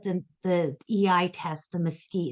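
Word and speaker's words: MSCEIT: Caruso emotional intelligence test we pronounce it the mosquite so as I said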